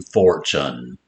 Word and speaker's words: fortune: So remember, rare ch, single letter ch, spelled with a T, followed by a U, as in fortune.